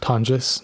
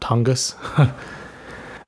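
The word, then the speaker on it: Tonges: Jake Tongis, which by the way, Al Michaels, uh, it's pronounced Tongis, not Tongas.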